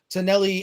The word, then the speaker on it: Taneli: If you have questions for Taneli, and I hope I'm pronouncing your name correctly, is that you are perfect?